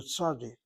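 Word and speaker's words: צדי: It's not called a sadic. It's called a sadi. The T S, the A, the D, and the I.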